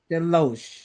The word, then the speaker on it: DeLoache: Delo.